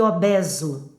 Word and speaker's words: obeso: Ileso e obeso pronunciam-se com e aberto.